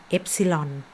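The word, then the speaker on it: epsilon: สัญลักษณ์ เป็น ตัว นิ ก็ อ่าน ว่า FC ลอน ตัว เอง อะไร เอฟซีลอน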